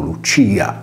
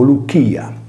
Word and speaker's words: Lycia: volte modo di spiegare, la Y greca si legge come una U e riprende il nome greco antico Lucia. Come si evince dalla stessa pronuncia greca, la sillaba C latina si legge come una velare chi e non come una palatale C.